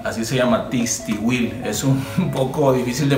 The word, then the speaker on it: Tixtihuil: El famoso Tistihuil, así se llama, Tistihuil. Es un poco difícil de pronunciar, ahí se lo voy a dejar en